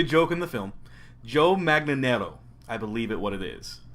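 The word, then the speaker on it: Manganiello: Joe Magnanero, I believe what it is. Or as Pee-wee said, Joe Manawawa.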